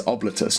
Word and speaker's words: Oblitus: It's Oblitus, not Oblitus. Well, the pronunciation's been all over the place.